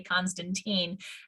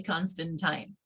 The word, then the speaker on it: Constantine: my name correctly because so many people look at it and say constantine and in fact it is actually constantine so as we carry